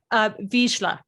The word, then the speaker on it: Vizsla: And did I pronounce it Hi, right? Lance. Vizsla.